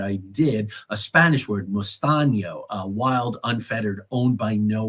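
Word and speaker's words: mesteño: And I was able to teach the kids mustaño, tell them it's spelled like mustano, except the N has that little squiggly line over it. Of course, the cedilla, mustaño.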